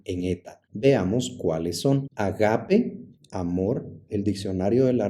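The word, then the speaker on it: ἀγάπη: eta veamos Cuáles son agape amor el diccionario de la Real Academia Española dice que se debe pronunciar como ágape en griego nosotros la pronunciamos agape arg principio G tierra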